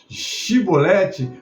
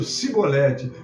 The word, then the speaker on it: Chibolete: não então eles diziam dize pois chibolete Pole dizia sibolete porque não podiam pronunciar bem então pegavam dele